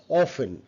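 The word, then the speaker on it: often: সফেন right সফেন সফেন অফেন অনেকে অফটেন বলে নট অফ অফেন অফেন অফেন silent এটাকে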